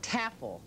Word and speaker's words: Tafel: Tafel. That's right. Rhymes with raffle.